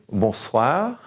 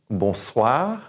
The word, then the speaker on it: bonsoir: I want you to say bonjour, bonjour, and good afternoon or good evening, bonsoir, bonsoir, and good night, good evening, bonne nuit, bonne nuit.